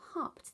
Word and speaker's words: hopped: rabbit hopped now hopped the last sound in hopped sounds very much like it hopped however if you hear that sound at the end of the word it's actually made with an e and a d the rabbit hopped out